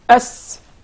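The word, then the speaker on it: س: So in the case of the Tha, stick out the tip of your tongue. But in the case of the Sin, you keep it inside.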